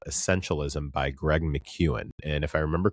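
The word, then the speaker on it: McKeown: called Essentialism by Greg Mchuan. And if I remember correctly, Mchuan is spelled M C EO W N. I believe that looks like Mac. However, it's pronounced Mchuan.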